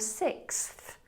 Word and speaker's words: sixth: So if you practice those 3 points, back of the tongue high, tip of the tongue to the roof of the mouth, and then the TH, K, S, Th, then you will have the perfect pronunciation of sixth.